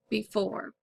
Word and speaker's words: before: you should have written B is the prefix four is the root divide between the two syllables four is accented before all right the next